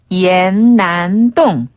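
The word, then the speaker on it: 南洞: 홍대를 한번 배워 볼게요 남동을 중국어로는 난동 난동 한번 더 난동 난똥네 우리가 삼청동 배울 때의 그 똥자 배웠었던 동을 똥이라 발음하고 자 그래서 연남은 중국어로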